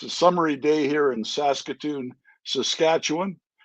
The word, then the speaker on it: Saskatoon: So that's how you pronounce it. Was it Saskatoon? Saskatoon.